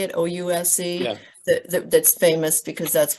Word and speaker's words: Ouse: O-U-S-E?